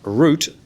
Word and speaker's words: route: called richard anster sanstis the word route is pronounced root in english not usa way as they do not